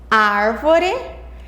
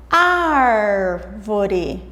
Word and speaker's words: árvore: Sílaba tônica é a sílaba mais forte. Árvore. Árvore. Se nós falarmos pausadamente, nós vamos conseguir também encontrar a sílaba tônica. Árvore.